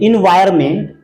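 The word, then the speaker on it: environment: ओ एन एम एनटी एनवायरमेंट एनवायरमेंट में एन का कहीं कोई उच्चारण नहीं है तो डाउट की बात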